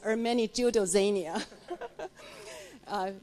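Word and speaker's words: Ermenegildo Zegna: And importantly, because I'm on the board of an Italian luxury goods company, the correct pronunciation is Ermeni Giudozania.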